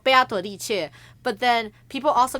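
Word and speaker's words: 贝阿朵丽切: playing the game in Chinese, Beatrice is called 贝阿朵丽切. That's how you would say it. 贝阿朵丽切. Cool. So, Beato, like Beatrice in Chinese is called 贝阿朵丽切.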